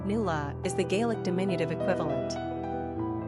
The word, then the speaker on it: Nuala: Nuala, pronounced Nuala, is the Gaelic diminutive equivalent.